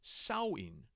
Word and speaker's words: Samhain: And if you're wondering how you get the pronunciation Samhain from this word, my understanding is that in this case, the MH is pronounced like a W in the Irish Gaelic language.